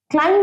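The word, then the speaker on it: climb: পারি এটার প্রোনাউন্সিয়েশনে কিন্তু ক্লাইম্ব মানে সিঁড়ি দিয়ে ওঠা বা উঁচুতে ওঠা সিঁড়ি বা উঁচুতে ওঠা আচ্ছা এটার pronunciation ক্লাইম বি ইজ not pronounce B কিন্তু প্রোনাউন্সিয়েশন হয় না একটা ছোট্ট টিপস দিচ্ছি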